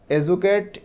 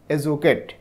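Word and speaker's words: educate: অ্যান্ড দেওয়ার purposes in the following text how schools এডুকেট students about mental health. এটার উচ্চারণ কিন্তু এডুকেট হয় না। তোমরা অনেকেই হয়তো বলতে পারো এডুকেট, কিন্তু সঠিক উচ্চারণ হচ্ছে এজুকেট।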